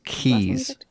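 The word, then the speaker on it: Keyes: your last name it was keys k-e-y-e-s i'm going to assume that's how it's pronounced because it's my character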